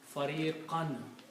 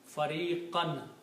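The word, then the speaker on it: فَرِيقًا: So when a noun comes after the verb, always these last two dhammas will change into two fathas. Okay? So it will be pronounced as fariqan.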